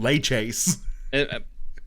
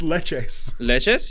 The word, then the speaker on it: Tres Leches: Tres Leches yeah yeah why are you saying lay Chase I didn't think I was that was his first pronounce it's Leches Leches yeah is that what I'm saying you're like lay Chase yeah lay Chase no chase Leches yeah like leche le le ches oh my [ __